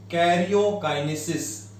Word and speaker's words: karyokinesis: The first step, it is karyokinesis. What is the pronunciation?